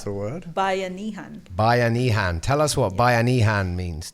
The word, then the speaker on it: Bayanihan: Let's let Roann pronounce the word. Bayanihan.